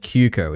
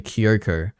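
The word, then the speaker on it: Kyōko: Okay, you were very close when you said Kyuko. It's actually Kyoko. It's spelt Kyuko because in Japanese, when you translate it to English, the OU sound is an extension of the O.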